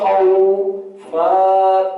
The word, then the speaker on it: خوف: اب اس کو خا واو ضبط خو فا دو زیر فن خوف.